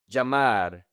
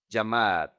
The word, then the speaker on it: llamar: Let's practice the pronunciation. "Llamar". Remember that this is to call. "Llamar".